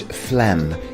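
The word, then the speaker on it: phlegm: Let's take a closer look at the pronunciation of flem. And as you can see on screen the ph is pronounced as an f and we have a silent g.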